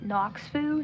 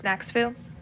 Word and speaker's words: Naxfu: I was like is it like Noxfu Nakfu? Um if anybody is wondering that it it's Naxfu.